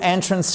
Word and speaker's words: entrance: Small entrance fee. Il y a des frais d'entrée. Entrance. Entrance et pas en transf non non fait un effort.